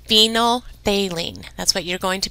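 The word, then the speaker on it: phenolphthalein: So I would probably pause that and write that it's pronounced phenylthalene.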